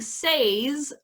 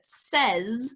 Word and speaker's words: says: now seen yes so instead of saying says we say the word says at least in this part of the world um i know there